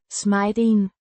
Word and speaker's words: smeden: Pronounced Smay-den.